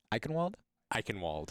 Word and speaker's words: Eichenwald: I can't pronounce it. You got it. Eichenwald.